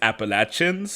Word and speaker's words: Appalachia: don't know it is Appalachians oh is it Appalachians people from Appalachia are very particular about the pronunciation so the way to remember it is I'll throw an Apple at you Appalachia oh I was going